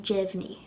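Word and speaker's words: deimhin: Before we lenite this, notice how we pronounce the D in jevni. It sounds like a J. It sounds like a J because E follows the D.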